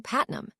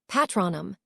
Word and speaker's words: Patronum: Expectto Patnum, he shouted. Nothing happened. The pronunciation had seemed a bit off. Patronum, Lily corrected tiredly.